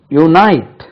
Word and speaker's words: unite: Unite, ஒன்று சேர். Unite, UNITE, UNITE, unite. Spelling எப்படி? UNITE, பாதி காணல வருது. UNITE வந்துட்டு. Unite. Spelling second syllable, என்னுக்கு தான் ஸ்ட்ரெஸ்.